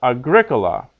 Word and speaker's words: agricola: is long Regina pecunia but Agricola puela because in those cases the second last syllable is short so Agricola puela okay